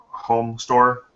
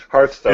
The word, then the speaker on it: Hearthstone: Home Store. Home Store. Home store, right. Hearthstone, It's- but 2 syllables Yeah. with an R.